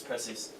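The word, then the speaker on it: precisão: Remember, where do you put the emphasis on words in most cases? Second to last. So pronounce that one more time, but emphasizing this. Precisan. Precision. Precisan. And remember, S in between 2 vowels, Precision. well, it needs, what sound does it make? The Z sound.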